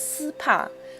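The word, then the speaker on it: 丝帕: Secondly, handkerchiefs in Chinese are pronounced as si pa, while si is the homophone of sinking earth.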